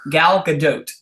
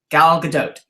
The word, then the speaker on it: Gal Gadot: everything had happened and gal gadot hi special you're hearing right now how to say it she said it herself gallica dote that's how you say it guys let it end now gal gadot but anyway um she